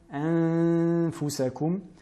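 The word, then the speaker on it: أَنفُسَكُمْ: La lettre fa, anfusakum. Donc là, nous apprêtons à prononcer les lettres fa. C'est pour cela que nous plaçons les incisives supérieures sur l'intérieur de la lèvre inférieure. De cette manière, anfusakum.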